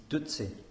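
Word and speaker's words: བདུད་རྩི: And the word for nectar in Tibetan is dutsi. And dutsi has two syllables, and the first of them is du, which is the Tibetan word for mara.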